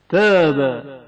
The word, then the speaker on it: تاب: تاب حرف تا کی آواز نازک ادا ہوتی ہے.